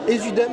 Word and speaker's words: Ésudème: Je vois le titre Ésudème, c'est comme ça que ça se prononce? Exactement.